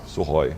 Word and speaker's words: Sukhoi: Bom, primeiro eu quero elogiar a sua pronúncia, né? Você falou Sukhoi, né? Sukhoi.